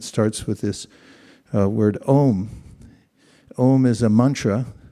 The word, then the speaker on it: Om: Om is a mantra. It's actually 3 letters, A-U-M, but due to Sandhi rules, the way vowels are merged together, it's pronounced as one syllable, Om.